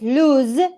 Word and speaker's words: lose: you have the verb it's lose with the z sound and the uh this the adjective is loose loose your tooth is